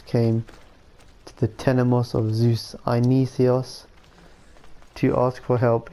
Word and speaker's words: Zeus: that's not my fault oh right no wonder zeus is i've said that wrong let me zeus that's how you pronounce it according to greek myth this temple